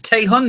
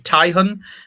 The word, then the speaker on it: Taehun: Yes, I pronounce it Taehun. It could be Taihun, but yes, Taehun is how I've always pronounced it.